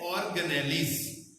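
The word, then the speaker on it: organelles: Pronunciation है ऑर्गेनेलिज।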